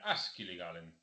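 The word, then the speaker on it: Akseli Gallen: dibujos de propaganda nacionalista con acento en el primer sílaba siempre Askil Galen.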